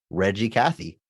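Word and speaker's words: Reg E. Cathey: g e middle initial e Cathy but you pronounce it of course Reggie Cathy but his first name is Reginald which can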